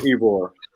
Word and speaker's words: Ybor: Yarborough. Oh, Yarborough City. Yeah, Okay. that's it. Uh-oh. It's called Ybor.